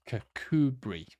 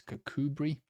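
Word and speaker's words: Kirkcudbright: Douglas D be yes cbri not bright it's cbri oh this one Sanka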